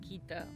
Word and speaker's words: Kitta: We got out of the car because from this place you can see the whole village of Kitta which I insistently called Kito.